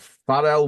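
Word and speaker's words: Pharrell: he said you know far Williams has had or farel Williams sorry for that's how it's pronounced in it he's using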